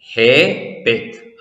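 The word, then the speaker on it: ܗܒ: ഹേ, ബേത്ത്. ആ എന്ന സ്വരം. അന്ത്യാക്ഷരം ബേത്ത്. അന്ത്യാക്ഷരത്തിന് സ്വരമില്ലാത്തത് കൊണ്ട് അതിന്റെ തൊട്ടുമുമ്പിലെ അക്ഷരത്തിന്റെ സ്വരം ദീർഘമായി ഉച്ചരിക്കുന്നു. ഹാബ്, ഗിവ്, തരൂ എന്നാണ് ഇതിന്റെ അർത്ഥം.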